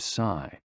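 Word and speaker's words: 嘶: The 6 sounds are XU, pronounced like shh, with a deep sigh, which is associated with the liver. HE, pronounced like her, with a yawn, which is associated with the heart. SI, pronounced like sir, with a slow exhale, which is associated with the lungs.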